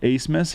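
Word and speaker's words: Abmas: that One Max acemus it's spelled a bmas but it's Ace Miss he's a great score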